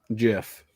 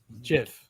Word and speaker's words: GIF: What's the correct way to say it then? GIF. GIF. According to him.